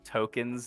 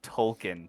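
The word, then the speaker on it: Tolkien: that that you know token's name isn't token it's tolken because his parents are Jake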